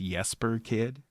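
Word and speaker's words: Jesper Kyd: is by um I I think it's pronounced yesper kid um but he's ah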